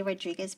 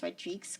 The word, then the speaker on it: Rodrigues: One, it's a lot of people say Rodrigues, but it's actually pronounced Rodrigues because it's Portuguese.